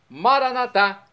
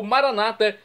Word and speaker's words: Maranatá: E agora eu clamo do aramaico dialeto de Jesus, Maranatá, como dizemos nós católicos, ou Maranata, como dizem nossos irmãos separados, os evangélicos ou protestantes. Não importa a pronúncia, o significado é o mesmo.